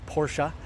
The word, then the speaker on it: Porsche: but if you are a Porsche snob it's Porsche that's how it's supposed to be pronounced we've got a beautiful vehicle right here